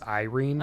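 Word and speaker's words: Yrene: Oh, I looked up how to spell her name or how to pronounce her name. By the way, it's Irene according to the wiki.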